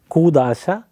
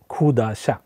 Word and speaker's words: കൂദാശ: ഇപ്പം ഖോപ്പാണ് എഴുതിയിരിക്കുന്നതെങ്കിലും നമ്മൾ എഴുതുമ്പം ഖ എന്ന് പറയാറില്ല, ക്യൂ ആണ് എഴുതുന്നതെങ്കിലും കുർബാന, കൂദാശ എന്നൊക്കെ തന്നെയാണ് ഉച്ചരിക്കുന്നത്. അപ്പം ഖോപ്പാണ്, അതുകൊണ്ട് ഇതിൻ്റെ ശരിക്കുള്ള ഉച്ചാരണം ഖൂ ആണ്, ഖൂദാശ, കുർബാന. അപ്പം പക്ഷെ ഉച്ചരിക്കുമ്പോഴെല്ലാം കുർബാന, കൂദാശ എന്നൊക്കെ ഉച്ചരിക്കാറുള്ളു.